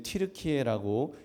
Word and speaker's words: 튀르키예: 또 겁쟁이를 상징한다고 해서 자기들 고유의 발음대로 해달라고 해서 작년부터 이제 튀르키예라고 이렇게 그 발음을 하게 된 것이라고 하더라고요.